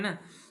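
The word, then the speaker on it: know: तो नो में कौन सा वर्ड साइलेंट है? साइलेंट मतलब है इसको हम नो पढ़ रहे हैं तो के को नहीं पढ़ रहे हैं। तो जो के वर्ड के लेटर है वह साइलेंट इसमें है।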